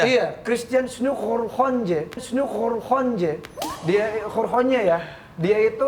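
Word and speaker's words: Christiaan Snouck Hurgronje: Oh, emang gitu bacanya? Iya, Christian Snook Horhonje.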